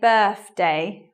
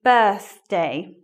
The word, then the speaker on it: birthday: I want to say birthday with an F, but it should be birthday.